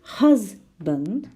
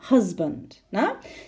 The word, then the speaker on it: husband: So in the word husband, it's the second syllable, husband.